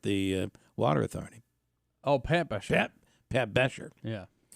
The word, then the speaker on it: Belcher: Oh, Pat Besher. Pat Besher. Yeah. But his real name is Belcher. Oh, yeah, okay. Yeah. The L is silent.